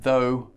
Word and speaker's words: though: of oh ugh and that rhymes with go or no and the words in this category are though although and doh now